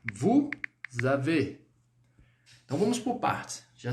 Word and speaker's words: vous avez: Mas olha a pronúncia, vous avez. Vous avez. Você está ouvindo um som de Z, não é? Esse som é devido ao fato de fazermos aí uma ligação.